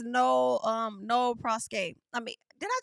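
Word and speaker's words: nolle prosequi: Girl, let's ask Google to pronounce it. Noli prosequi. Oh, I wasn't far off when I said it the first. Nole prosequi.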